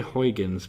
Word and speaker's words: Huygens: a little probe called now we say Huygens but it's a Dutch name so I think they say like hoihens or something if you're Dutch you can probably pronounce it better than I could but this particular probe